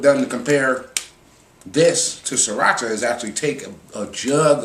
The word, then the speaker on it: Sriracha: Go out and get you some Sriracha. That's how it's pronounced. Even though it might not be how people will perceive it to be.